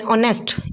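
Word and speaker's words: honest: आवर एन ऑनेस्ट H silent है।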